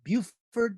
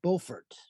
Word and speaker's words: Beaufort: Now it's pronounced Beaufort, not Beaufort.